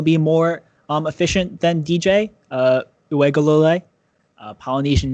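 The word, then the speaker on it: Uiagalelei: So DJ Uegalole, that's how you say it. Uegalole. I figured it out.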